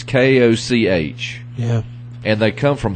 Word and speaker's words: Koch: I don't think Now, it's the guys I bought them from say it's pronounced Koch, but Yeah. there's a guy who's a golf announcer. He pronounces it Coke. Really? Yeah. And, I mean, it's Koch.